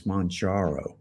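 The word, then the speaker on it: Mounjaro: podcast from today, then I always pronounce that wrong. It's Monjaro. I think we need to have a vote on that. I've been saying Monjaro. Yeah. I think Kilimanjaro, Yeah. Mount Kilimanjaro. Yeah, So I think it's Monjaro.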